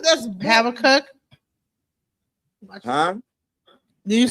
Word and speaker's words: Habakkuk: No, it's pronounced Habakkuk.